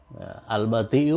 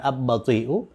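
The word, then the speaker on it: البطيء: Al-bati'u bukan ab-bati'u, oleh karena ba itu huruf bulan. Jadi lam itu diucapkan dengan jelas, al-bati'u.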